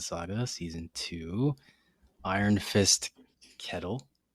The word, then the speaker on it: Ketil: right of Inland Saga season two Iron Fist kettle keto no Kettle right that's how you say it